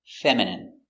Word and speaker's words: feminine: like a girl pronunciation feminine f e f m fem f femine femin femin feminine feminine feminine stress on the first syllable feminine feminine your dog